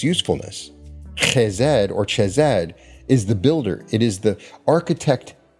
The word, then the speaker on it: Chesed: When you work with Jupiter and Chesed in the magical context, and yes, that's how it's pronounced.